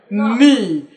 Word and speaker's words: knee: Okay, if you can say kettle, K is not silent in kettle, but K is silent in knee when you talk about knee. When you talk about knowledge, K is silent in knowledge.